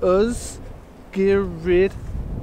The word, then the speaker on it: Ysgyryd: Welsh name is Oh spirit the why is pronounces our earth the rest is quite easy earth gear read VAR o 1f is a VAR sound we've